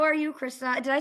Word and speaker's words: Christa: How are you, Christa?